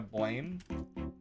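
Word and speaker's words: Blame!: images from that manga blame which should of course be pronounced blam um the one I liked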